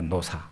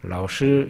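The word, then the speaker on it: 老师: 베푸는 사람에게 쓰지 않습니다 우리 우리 식으로 발음하면 늙을 로자 스승 사자를 씁니다 노사라 그럽니다 노사 그게 학교 선생님을 부르는 명칭이에요 제가 중국에 가면은 저한테 목사 선교사 이런 명칭을 붙이지 않고 노사라 부릅니다 라오스 이렇게 부릅니다 그러면은 중국에서 선생님이라 할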